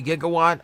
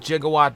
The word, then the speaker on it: Gigawatt: Yes, I know it's supposed to be Gigawatt. I always pronounce it Gigawatt because that's how they pronounced it in Back to the Future.